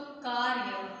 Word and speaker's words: कार्य: म पर लगेगी, म के ऊपर, और इसका उच्चारण कैसे होगा? कर्म। ऐसे ही है का य है तो कार्य, य के ऊपर रेफ र।